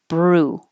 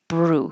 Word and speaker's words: brew: first bull blue and the same for brew you can put your tongue in the r position while you're making your B your lips are closed Bru Bru so now there's no